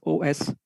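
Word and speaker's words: Oświęcim: If I have to pronounce it, it's Osweicim. Oswiecim. It's pronounced like that.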